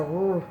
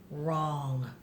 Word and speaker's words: wrong: right okay one more remember the W is silent if you see the W and the are side by side side by side cross up that W what's the word wrong good job wrong now